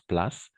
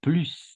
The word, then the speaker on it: plus: mon ami Stéphane merci alors on va prononcer plus comme l'anglais je sais que en anglais on prononce place mais en français on va prononcer plus d'accord oui c'est un